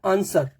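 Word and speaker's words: answer: करना होता है पहला आंसर आंसर नॉट आंसर आंसर all time question आंसर बोलना होता है तो इसमें डब्लू नहीं है डब्लू है रिटन में बट प्रोनंसिएशन में नहीं है सर्ड एस डब् ओ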